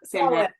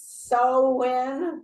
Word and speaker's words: Samhain: How do you say it? I never say it right. Sam. Samhain. That one. Mhm. Or Yeah, Sam, I said the way you say it, Rachel. So I'm wrong too. I always say it's Samhain, and that's wrong.